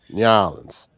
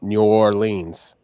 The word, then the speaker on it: New Orleans: N'awlins. Accent on the second syllable, not New Orleans with accent on the third syllable."